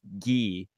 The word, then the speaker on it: Guy: So for anyone listening, my middle name is Guy, but I'm French Canadian, so it is actually technically pronounced Guy.